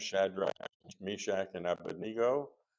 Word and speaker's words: Abednego: Shadrach, Meshach, and Abednego. You probably heard it. Abindigo, right? Uh it should be pronounced abenego, but uh we we're not going to camp on that.